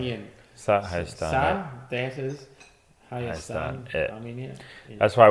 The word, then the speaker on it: Hayastan: That is Hayastan, Hayastan, Armenia.